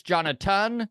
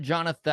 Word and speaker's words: Jonaton: It's Jonaton, not Jonathan, right?